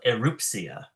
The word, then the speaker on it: Erupcja: No, it's called Erupcja, which is Erupcja.